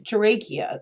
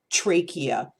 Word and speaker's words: trachea: The fourth common reason why a dog might be coughing is collapsed trachea. This is something, I'm sorry, I pronounced that wrong. Collapsed trachea.